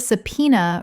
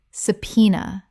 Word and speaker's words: subpoena: Subpoena. Common mispronunciation. Subpoena. Correct pronunciation. Subpoena. 3 syllables with the B completely silent and the stress on the second. Example. She received a subpoena requiring her to testify